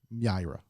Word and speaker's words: Mira: i r a Mira even though it's spelled with an i pronounce it with a Y Myra Myra Myra Myra Mira